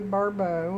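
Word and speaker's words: Barbault: Andre Barau, and that one is spelled B- A R B- A L T is uh was an astrologer with a history of notable accurate predictions.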